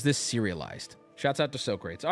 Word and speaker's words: Socrates: big pull looks like so crates I know that's not how you say his name Socrates would be in a different language and he would have